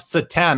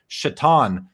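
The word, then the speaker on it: Šatan: says what about miroslav satan i mean people call him satan because his name is spelt like satan but it was pronounced i think it was pronounced shatan so miroslav absolute authentics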